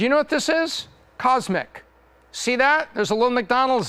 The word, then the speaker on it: CosMc's: know what this is Cosmic see that there's a little McDonald's there and there's a golden arch right there this is the first location of cosmic this is pronounced cosmics focus on drinks a